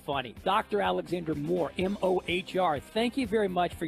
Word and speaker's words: Mohr: kind of funny it's mohr it's it's pronounced just like more but my website is